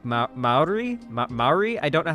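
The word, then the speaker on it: Māori: And so if I was, like, a guy from that culture, like, a New Zealand, like, indigenous person, Maori is how it's pronounced?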